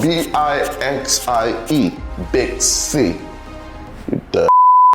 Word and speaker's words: Bixie: It's spelled B-I-X-I-E, Bixie.